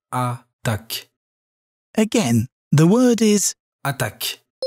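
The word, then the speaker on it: attaque: attack which in french is attack this word pronounced more slowly sounds like a duck again the word is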